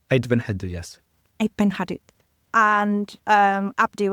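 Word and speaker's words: Ait Benhaddou: And also the other thing I would say is, because we were traveling and we'd visited Beit Hadu. Yes. Did I say it right? Yeah, you're right. Beit Hadu, yes.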